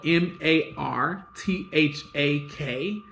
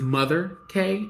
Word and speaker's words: Martha K: Google Martha K so m a r t h a k l LC um I pronounce it as mother K instead of Martha K the reason why it's